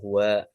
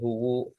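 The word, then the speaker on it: هُوَ: Terus Allahu la ilaha illa huwal hayyul qayyum, tetap dibaca huwa. Tidak boleh kita ubah-ubah menjadi huwu atau huwi, itu tidak boleh karena huwa itu termasuk golongan kalimat yang tetap atau mabni.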